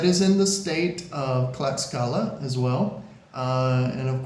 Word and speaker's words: Tlaxcala: a but it's pronounced clala like with a c and that is in the state of clala as well uh and